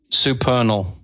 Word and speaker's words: supernal: How do you pronounce that, Neil? Supernal. Right. Okay, I was right.